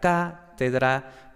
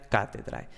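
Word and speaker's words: cathedra: era tenebrae, era cátedra, porque los grupos de muta cum liquida no formaban posición, entonces la sílaba anterior no era larga y por tanto el acento recaía en la sílaba anterior, ¿no? Entonces, íntegra, tenebrae, cátedra.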